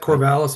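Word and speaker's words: Corvallis: Um so you're at Corvalis Fire in Oregon. Correct. And I did I say it right? Oregon. I you did. Yep. Corvalis, Oregon.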